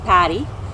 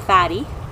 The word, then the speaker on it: Patty: pronounce my real name which is Patty. Patty came out fatty in Hindi.